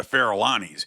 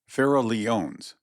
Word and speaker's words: Farallones: The explanation of it seems to me to be a corruption of the Spanish pronunciation Farallones, as, of course, the double L in that language has the sound of Y.